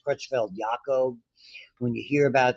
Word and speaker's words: Creutzfeldt-Jakob: We get one that is inherited, which is unusual, called, it's pronounced Creutzfeldt-Jakob.